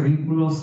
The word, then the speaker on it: vínculos: Acuérdense que vínculos, acento en la I, por favor, los vínculos socialmente aceptables,